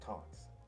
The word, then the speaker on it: Tanz: People don't know it's German, and it's pronounced Taunts, right?